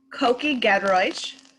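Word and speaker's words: Kuki Gedroich: Koki Gedroich. props to you on doing that or pronouncing that.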